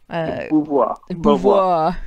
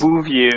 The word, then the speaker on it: Beauvoir: Beauvoir. Okay. I always want to say it like the Simpsons say their names. It just Bouvier, yeah, but that's a different name Beauvoir, entirely.